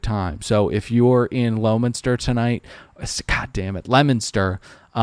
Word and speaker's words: Leominster: Patrick is in, I'm going to try it, Leominster. The O is silent.